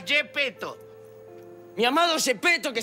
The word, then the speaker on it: Yepeto: admirado un profesor llamado gps peto se pronuncia gepetto mi amado es espetó